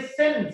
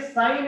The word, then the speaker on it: sin: साइन spelling SIGN, लिखते हैं SIN है। ये सिन, सिन नहीं रीड करोगे, सिन का मतलब होता है पाप, तो ये सिन नहीं है, ये साइन इसको बोलते हैं हम लोग, साइन, साइन थीटा।